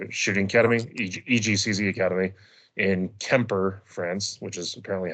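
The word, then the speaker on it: Quimper: in Eric Raffel's shooting academy, EGCZ Academy, in Kemper, France, which is apparently how it's pronounced.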